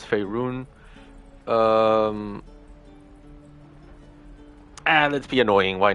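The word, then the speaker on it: Faerûn: You educate me in Fey Run, and no, it's Fey Rune.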